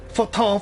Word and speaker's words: Fortin: Fortin, Fortin, Fortin.